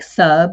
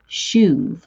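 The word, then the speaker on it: שׁוּב: It looks like sub. It's written S-U-B, but it's pronounced shuv.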